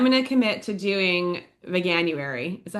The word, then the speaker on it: Vanuary: I'm going to commit to doing Vanuary. Is that how you say it? Vanuary.